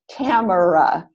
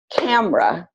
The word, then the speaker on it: camera: word with three syllables camera but we usually pronounce that word with only two syllables we usually pronounce that word as camera and we do that